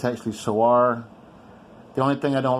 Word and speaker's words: Sewor: about my so our yes I've heard it pronounced sewer online it's actually so are the only thing I don't like about this